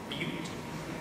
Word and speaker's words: Butte: Butte, South Dakota, and they will remind you that that is pronounced Butte whenever you visit.